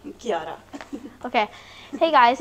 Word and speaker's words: Chiara: name Sig how do you say your name Kiara okay hey guys it's Gabe from the kitchen